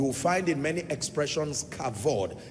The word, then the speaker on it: kavod: You will find in many expressions kavod, K-A-V-O-D. And sometimes you find the V replaced with B. So K-A-B-O-D, pronounced kabod. And then in other texts, you will find kavod.